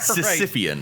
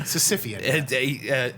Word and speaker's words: Sisyphean: Sisyphean. Sisyphean. Arting a sandwich I think forever up a hill. I think I added an extra syllable onto there.